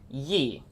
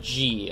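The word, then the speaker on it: Ji: And we have this one boss that we still have to beat, known as Yi, who is an immortal being. Well, not Yi, but G, I think. And it's spelled J-I.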